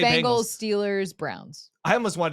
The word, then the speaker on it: Bengals: The Bengals. Okay. You to me you say it like like a bangle. Like a bracelet. Yeah. The Bengals.